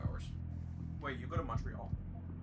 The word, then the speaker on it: Montreal: torial it's and yes I am pronouncing it like that folks um we are Canadian and the city I'm referring to is Montreal and he's not French